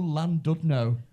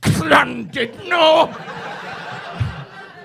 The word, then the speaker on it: Llandudno: I went on stage and I went, hello, Llandudno. And there was a bloke at the front. Actually, it's pronounced Llandudno.